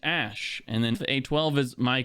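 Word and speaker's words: Æ: letter X and then AE is like pronounced Ash and then a12 is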